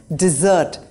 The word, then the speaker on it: dessert: at the end of the meal and is pronounced as dessert not desert number 19 is B versus bear